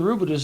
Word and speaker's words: Rabideau: Missouri, the Rabideau, named after one of the Rabideaus in Missouri. And that's how they pronounce the name there.